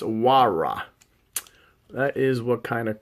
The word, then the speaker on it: Huayra: So it's Pagani, pronounced Huayra.